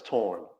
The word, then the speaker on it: Torraine: Um, the way it's pronounced is torren. And I way I tell people it's like torren like foreign.